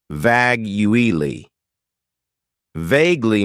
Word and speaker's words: vaguely: syllables and the stress is on the first syllable vagu vaguely means that something is not clearly expressed or